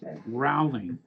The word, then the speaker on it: Rowling: Rowling. Rowling. Yeah. Not row like row your boat.